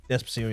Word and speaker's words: Despacito: Is that how you pronounce it? Despacito, yeah.